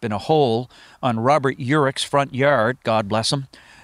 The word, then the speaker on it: Urich: Urich.